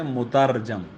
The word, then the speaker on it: مترجم: تو یہ لفظ اصل میں ہے مترجم. بعض پڑھتے ہیں مترجم، غلط ہے، مترجم نہیں ہے کوئی بھی.